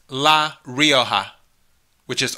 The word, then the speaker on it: Rioja: Another 2%, La Rioja, which is Rioja, because the J's are H's.